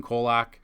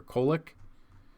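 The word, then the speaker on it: Kolek: You got Andrew Haney versus Steven Kolak or Kolick I believe is how you say the name.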